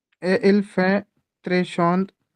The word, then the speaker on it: chaud: Hindi English का एस एच ओ W, this is the exact same pronunciation Chaud.